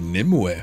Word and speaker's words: Nymue: dream and this is how you beat Mythic Nim yes that's how you say it now I'll